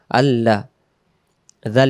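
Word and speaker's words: الذي: উচ্চারণ আল্লাজি আবার আল্লাজি এবং জিব্বার আগা থেকে পড়বো। যদি আমরা বলি আল্লাজি তখন এটা জালটা জিম অক্ষর হয়ে যাবে।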